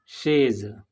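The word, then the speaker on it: chaise: Next example शेज। शेज means चेयर, इसमें भी एस दो वावल्स आई और ई के बीच में आया है जिसका प्रोनाउंसिएशन सॉफ्ट है।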